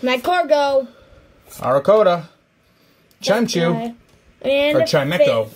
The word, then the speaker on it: Chimecho: win this battle my cargo arakota and for chimecho right i always i saw okay so i've always called it chimechu my whole life and then like just recently